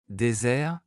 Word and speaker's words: désert: S simple, prononcé comme Z, Isabelle est ma cousine. Désert, le Sahara est un grand désert.